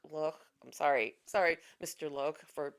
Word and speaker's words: Loach: It's Loach, who is British. It looks like it should say Loach, but but I think it's Loch. Loch.